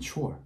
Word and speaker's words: chore: 완전히 다른 소리를 가지고 있거든요. 자, 하나는 choir, 이고요. 다른 하나는 chore입니다. choir and chore. It's like so different, right?